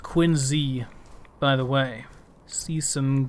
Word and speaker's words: Quincy: It is pronounced Quincy, by the way.